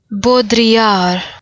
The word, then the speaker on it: Baudrillard: Uh… “Bo-dree-ard” That sounds… That’s right, right? Uh, yeah. It’s probably right. (computer voice with French accent) “Baudrillard” Uhhllck. I can’t do that. Yeah, I’m just gonna go with “Bo-dree-ard.”